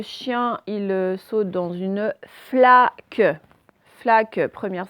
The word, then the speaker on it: flaque: Là, le chien, il saute dans une flaque. Flaque, première syllabe. Et quels sont? Donc, flaque, première syllabe, c'est fla. Et le son, c'est fl. L'association du F et du L. Fl. C'est pas fac, c'est flaque.